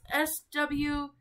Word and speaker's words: Swede: It's S-W-E-D-E.